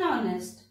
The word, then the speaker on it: honest: or nest and lake we can see in honest h doesn't produces sound so this is the